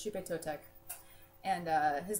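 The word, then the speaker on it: Xipe Totec: The X in is pronounced, it's not quite like sh, but it's not all the way to like a French G. It's kind of in between. So, it's Shupe Totek.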